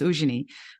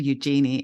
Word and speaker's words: Eugenie: It's probably, my name is actually Eugenie, which is, my mum called me Eugenie in South Africa. But then I discovered actually the French pronunciation is Eugenie. But then I came to Australia and it just got bastardized to Eugenie.